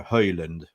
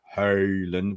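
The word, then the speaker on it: Haaland: regarding our young striker Holland Holland we're gonna we're gonna teach you how to say the name hey learned how can we do it no it's no no D at the end okay Dan then follow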